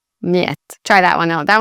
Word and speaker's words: Mljet: They're actually one letter, which is Y.